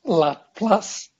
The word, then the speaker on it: Laplace: fourier because he's french laplace and other frenchmen pronounce la plus that there is this